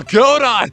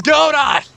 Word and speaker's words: Godot: the bloody writing well Godot it was Godot I'm probably saying it wrong it's actually godo but ah whatever I